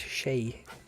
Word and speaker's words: Shay: I had to go and check how you pronounce it, Shay, because I thought it was Shake, and it said it's Shay.